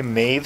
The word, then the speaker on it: Maebh: an Irish name but we didn't like the way Maeve sounded I found one pronunciation on the internet that was pronounced maybe and David really liked